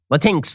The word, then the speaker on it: Latinx: I pronounce it that way because that is how it's spelled. It is spelled Latinx, Latinx, Inclusion, INCLU, capital